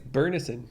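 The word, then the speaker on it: Byrnison: my favorite character jorek burnison am i saying it correctly yeah i think it's bernison that's what that's how they say it in the book he's one of my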